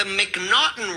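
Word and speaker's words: M'Naghten: In the United States, we have something called the Mcnotton rule and it's spelled M apostrophe N A G. You say and somehow he got Mcnauten out of that.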